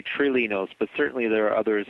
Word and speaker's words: Trilinos: for a number of months now calling it trinos but I guess that's not actually the correct way it's pronounced how is the package actually pronounced uh we tend to say trilinos but certainly there are others who pronounce it